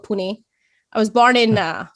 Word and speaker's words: Pune: city grew up in is is it called pronounced poon pune uh puna was old name uh but now it's called pune i was born in uh mumbai which is